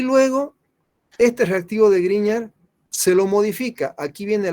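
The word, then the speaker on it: Grignard: se llamaba víctor griñán gene se pronuncia como gene por si acaso no lo lee en gris claro se lee griñán encontró estos compuestos y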